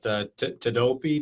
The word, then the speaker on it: Tedopi: As I mentioned earlier, you've got Tedopi. Did I pronounce that correctly?